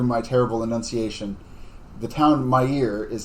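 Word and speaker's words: Maier: terrible enunciation the town my ear is not pronounced is not spelled m-y-e-a-r like i am saying it is m-a-i-e-r those of you of uh german bent might pronounce that meyer if you were correct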